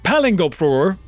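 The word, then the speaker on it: Palingoproer: It's pronounced Palingopur, and it's ridiculous.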